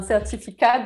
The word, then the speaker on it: certificat: But if I want to be straight, you should say un certificat because it's the last consonant is mute. You don't pronounce it.